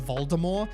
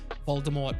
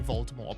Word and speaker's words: Voldemort: might be controversial, but they now pronounce Voldemort as Voldemort, and I understand that I'm pretty sure when JK Rowling originally wrote the books, Voldemort was supposed to be a silent T.